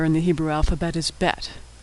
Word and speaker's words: bet: how to pronounce bet if there's a dot inside the bet it's pronounced as in boy if there's no dot it's pronounced as in victory bet with the b